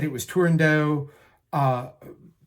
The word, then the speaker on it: Turandot: right there's nowhere in Toscanini said it was tendo uh it's rumored that Pini pronounced it tendo the first the woman that premiered the role tendo